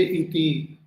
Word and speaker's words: iti: That means that T should be pronounced with 3 times by lengthening it 3 times. So idam adarsham iti. Generally we say iti.